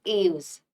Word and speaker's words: Aves: Now see, scientifically they are known as aves. Okay. How will you pronounce?